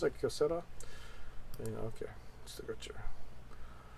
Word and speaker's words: Kyocera: Is that how you pronounce it, Kyocera?